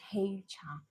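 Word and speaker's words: 黑茶: In Chinese we pronounce as Hei cha.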